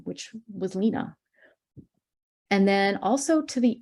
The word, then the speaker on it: Lena: as well as confirm the correct way of pronouncing her name, which was Lena.